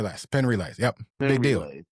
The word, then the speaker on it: Penn Relays: Penn Relays.